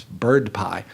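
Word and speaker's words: BRDPI: price index which has the unfortunate acronym that we sometimes pronounce bird pie so bird pie runs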